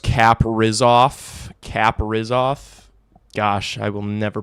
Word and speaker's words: Kaprizov: It's pronounced Kaprizov.